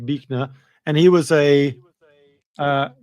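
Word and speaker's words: Buechner: And this fell here is a guy called Frederick Bner although it's spelled Bner but uh Fred Frederick Bnner and he was a uh quite a amazing storyteller and and sermon giver.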